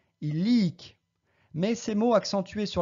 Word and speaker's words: illic: On prononce bien illic en accentuant sur la première syllabe en partant de la fin, et non pas illic, mais bien illic.